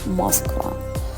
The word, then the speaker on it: Moskva: We ended up eating desserts at Hotel Moskva. I pronounce it in Serbian way.